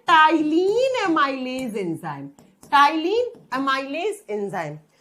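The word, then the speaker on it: ptyalin: दूसरा नाम होता है टाइलीन एमाइलेज एंजाइम। टाइलीन amylase enzyme. जब स्पेलिंग लिखते हैं तो पी से लिखते हैं, जब प्रोनाउंस करते हैं तो टी से करते हैं।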